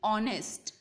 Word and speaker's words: honest: H is a consonant but still the pronunciation honest. When you pronounce the word honest, O sound is heard.